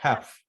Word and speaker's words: half: mean half half okay the l is silent okay you don't pronounce it so you say half oh wow never knew